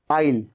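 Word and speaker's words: I'll: विल call you नहीं आपको कहना है आइल इसे बोलना कैसे आइल आ इल आई विल कॉल यू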